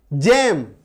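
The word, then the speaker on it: gem: जैसे जी के बाद देखिए क्या है, जी के बाद ई, जेम, इसको गेम नहीं बोलते जेम बोलते हैं ना।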